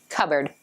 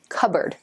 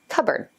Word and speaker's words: cupboard: you use to straighten your hair number four cupboard here's a tricky one it's a cabinet in the kitchen that you keep dishes and things in so how do you pronounce it cup board you know cupboard cupboard in fact it did used to be just